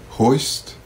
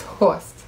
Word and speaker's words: Horst: Let's have you pronounce some German names. Hoist. Hoist. Hurst. Hurst. It's Horst.